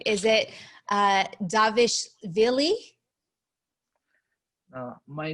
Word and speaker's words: Merab Dvalishvili: tell me if i'm right is it uh davish villi uh my name is mehrab ali swilley okay marab dwalishvili i know i butchered that but you have seen number 12